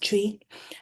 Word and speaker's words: Twi: It's spelled TWI but pronounced Tree.